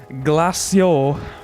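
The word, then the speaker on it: Glaceau: Well, glacio is how you pronounce it.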